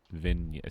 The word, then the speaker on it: Vignette: Is it Vignette? Vignette. Silent G. Vignette. V. Vignette. Yeah, silent G.